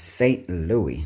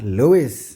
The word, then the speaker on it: St. Louis: Yes, it's St. Louis, not Louis.